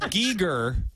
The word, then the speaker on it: Giger: you call me okay I think it's pronounced I think it's pronounced Giger uh and he did